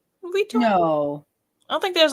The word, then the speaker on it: Vuitton: Vuitton? No. I don't think there's an accent. No, but it's the U and the I combination. Oh yeah, that makes a certain sound.